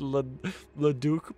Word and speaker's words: Leduc: Leduc, probably?